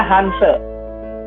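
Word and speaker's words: 汉字: Hance. Begini. H-A-N-Z-I. H-A-N-Z-I. Begini. Bacanya. Benar begini penulisannya? Benar, iya. Benar, Pak. Dibacanya Hanse. Iya, bacanya Hance, tapi tulisannya Hanzi.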